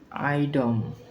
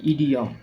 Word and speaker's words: idiom: আচ্ছা, তারপর আইডম, IDIOM উচ্চারণ হবে ইডিয়ম, ইডিয়ম মানে বাগধারা।